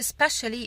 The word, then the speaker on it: especially: ومش هلوم عليك especially ان احنا طول العمر بننطقها بالشكل ده. لسه حالا انا بقول لك especially دي هي الادفرب من كلمة special.